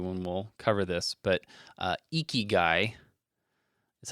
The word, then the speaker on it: Ikigai: shortly after the one we'll cover this, but Ikigai is how you say this. Ikigai, Ikigai.